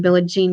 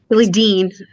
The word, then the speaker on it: Billie Dean: Billie Jean does when Billie Jean is it Billie Jean? I'm saying her name wrong. Billie Dean.